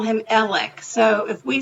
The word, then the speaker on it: Alex: spelled a-l-e-x most of us in the country pronounce it Alex but from where he lives in that area they call him elec so if we say Alex it's because we